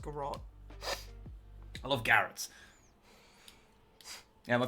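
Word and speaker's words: Garratt: It's pronounced garrot.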